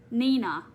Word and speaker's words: Nina: It's pronounced with a long E. Nina.